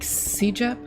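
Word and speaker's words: CEGEP: what were you in, like CJEP? How do you say it?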